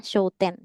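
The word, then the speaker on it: 商店: sama kanji yang ini jadi bukan show m Tapi bacanya show ten gitu jadi barang yang dijual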